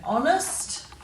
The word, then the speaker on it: honest: We don't have a lot of silent H's in our words, but these are 3 words with silent H in them. We've got ghost, hour, and honest.